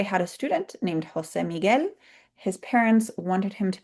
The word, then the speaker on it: Miguel: So the U there is silent. So GUE, ge, GUI, gi. Miguela, Jose Miguel. And I have a note here. There's a reason I put Jose Miguel on the screen and not just Miguel.